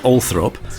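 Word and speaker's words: Althorp: the old thorpe estate for some reason pronounced allthrop but it's the final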